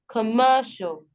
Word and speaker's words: commercial: unstressed sybles for example commercial commercial primary stress falls on the third syllable show and then the secondary stress falls on the first syllable